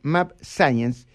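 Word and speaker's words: mAbxience: no firmó ningún contrato su laboratorio mar science así se pronuncia map science es apenas un proveedor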